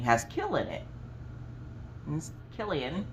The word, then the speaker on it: Killian: kill in it he's killian with a k rhymes with jillian with a j um but if killian